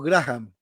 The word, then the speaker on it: Graham: Sí, Pero ya la sabemos que... pronunciación correcta es Graham, pero claro, yo Graham. reconozco que es muy difícil fonéticamente hablando decir esto, ¿no? Así que Graham, yo me conformo con Graham, así que puede